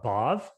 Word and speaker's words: Bhav: i think i think it should technically be uh bob yeah yeah see i said i